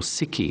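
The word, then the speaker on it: ψυχή: used to mean soul psyche or siki as it's correctly pronounced in ancient Greece and um shamanism attributed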